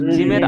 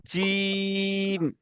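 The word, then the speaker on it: جيم: আছে, এই মাড়ি মাড়ি, জিভের মাঝখান আর উপরে মাড়ির সাথে লেগে একসাথে উচ্চারণ হবে কি জিম। আপনার সবাই এটা হলো জিমের আসল কি উচ্চারণ হলো এই পরিষ্কার জিম। অনেকজন জিম বলছেন, জিম নয়, ওটা হবে জিম। তাহলে আলিফটা সবার হয়ে গিয়েছে, আলিফ।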